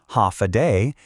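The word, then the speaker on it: Håfa Adai: Step foot on Guam and you'll hear one word again and again, ha aai. Pronounced ha a day.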